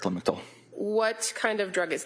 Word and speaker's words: Lamictal: the pronunciation, that's also referred to commonly as Lamictal. It is correct, Lamictal.